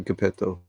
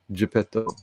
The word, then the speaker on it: Geppetto: did i say gapetto it's not capeto yeah just spelled with a ge right yeah geppetto you don't know any